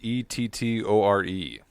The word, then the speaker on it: Ettore: It's how do you pronounce Ettore? Ettore.